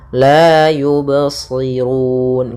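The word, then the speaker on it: يبصرون: kita namakan dengan Qalqalah usahakan qalqalnya jangan sampai yubsirun ada tambahan Hamzah atau dengan saktah nah ini kurang tepat cara membacanya Adah fahum la yubirun ya mengalir suara bnya tidak putus dan tidak pula sakta dan tidak pula ada tambahan Hamzah la yubsirun kemudian lafal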